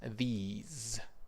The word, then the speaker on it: these: It's a short this, this, very short, very sharp, and then in the plural, it's these, ease.